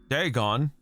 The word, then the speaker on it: Dagon: Dagon. Okay, so it's pronounced with an A.